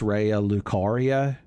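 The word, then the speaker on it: Raya Lucaria: That's nice, but I believe it's pronounced Rea Lucaria.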